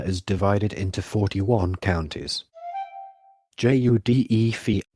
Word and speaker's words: județ: Judef, pronounced Județ, and the municipality of Bucharest.